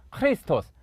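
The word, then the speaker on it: Χριστός: 를 보면 알겠지만 , 숨소리 가 섞인 소리 라서 'h' 발음 이 나 는 경우 가 많습니다 . 그러니까 ' 크리스토스 ', ' 크리스토스 ', 이렇게 발음 하는 거 예요 . X 소리 가 아닙니다 .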